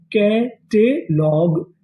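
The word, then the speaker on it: catalogue: जी यूई को हम लोग यहां पर पढ़ेंगे ग। तो मीनिंग क्या बनी? कैट लॉग कैटलॉग।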